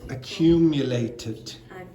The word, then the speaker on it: accumulated: Yeah, that is accumulated. Accumulated, and that word is released. Because this finishes in a t, then the ed is id.